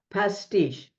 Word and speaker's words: Pastiche: is where does the name come from okay pasti giving you a little background the first time I heard this word it was a restaurant in Milwaukee called pasti so I look it up and it refers